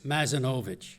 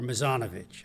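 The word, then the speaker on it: Mazzanovich: Among the fine artist attracted to Westport was Lawrence Mazanovich or Misanovich. I've heard it pronounced both ways who arrived in 1909,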